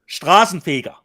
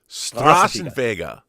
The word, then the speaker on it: Straßenfeger: Straßenfeger, Rob. Straßenfeger.